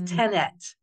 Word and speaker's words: tenant: tenant of apartment building it's tenant but I think brain immediately wants to throw in the end it's just it doesn't